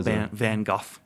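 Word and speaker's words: Van Gogh: I think sometimes I always pronounce it um the John Lennin way. Just Oh, Van Go.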